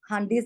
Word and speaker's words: hundis: Please note that this should be pronounced as handis and not hundis.